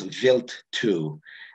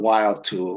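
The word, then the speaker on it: Wild 2: coma of comet uh it's not it's actually pronounced vilt two uh not while to we had a NASA Ambassador um teleconference on this and they stress that everyone's calling it wild to its pronounceability I don't know why they don't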